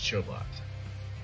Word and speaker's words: Chobot: is clarifying uh terry clarifies that it rhymes with robots so it's chobot okay this is robot it's